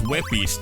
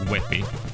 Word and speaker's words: WebP: pictures to JPEGs because WebPs don't work on OBS. I also learned that the format is pronounced WebP, not as WebP as I pronounced it before.